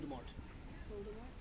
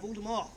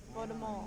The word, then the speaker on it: Voldemort: You said it with a hard T on the end of it. Should be pronounced Voldemort. Voldemort. Is that French for death, M-O-R-T, Mort.